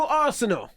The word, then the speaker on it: Arceneaux: Arceneaux. Arceneaux. That's what I said. Well, Nah. and he can barely pronounce Michael, so just be glad he got that.